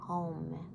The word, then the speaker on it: Om: de ton corps reconnaît, qui est le Home, qui se dit A-U-M, même s'il s'écrit O-M.